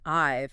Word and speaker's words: I've: That little V sound in I've is key.